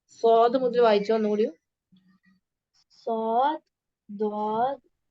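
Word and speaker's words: ض: Are learning this is the correct way ഓഫ് pronouncing these letters. Okay, ദ്വാദ്.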